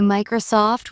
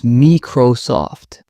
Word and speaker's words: Microsoft: I notice people say Microsoft with stress on the soft. It's Microsoft.